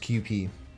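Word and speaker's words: Kewpie: the on the bottle it says that it's pronounced QP good game good game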